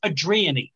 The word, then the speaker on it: Adrian: d r i a n that's adrian right adrian i said hey adrian i don't know it's adrienne adriani what where do you get that i